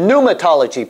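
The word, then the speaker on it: pneumatology: below this one oh patology P NE u m a puma actually they don't pronounce the P but I'm trying to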